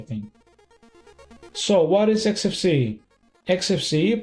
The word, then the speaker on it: Xfce: XFC, pronounced as four individual letters, is a free and open-source desktop environment for Linux and other Unix like operating systems.